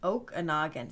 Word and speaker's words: Okanogan: Oh, it's pronounced Okanogan. See, I was pronouncing it like you would in Wisconsin. Okanogan? Okanogan? You know, we pronounce it like the Indian name.